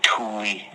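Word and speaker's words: Thule: to call themselves the Tuli uh the like T h u L E but pronounced T O O L I E.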